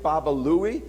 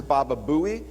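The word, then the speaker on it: Baba Looey: Quick Draw mcra and of course the sidekick Baba Louie which Howard's third sidekick mispronounced as Baba Buie and that is why you've got the name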